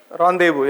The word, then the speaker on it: rendezvous: on the space okay then they have a rendezvous with ajinomo modules with other gemini capsules it's not renders first you should pronounce us rendezvous yes so then came the apollo project literally